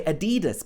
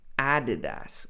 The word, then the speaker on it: Adidas: Some people say Adidas, but really this should be Adidas with the stress on the A.